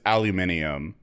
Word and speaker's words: aluminum: What is the real word? Is it with the eye or no? Uh, it's with the extra eye. Aluminum. aluminum. Yeah, the the the element is aluminum. Aluminium. But the the the I think it was something with like when we came up with aluminum foil like the the the extra eye got dropped.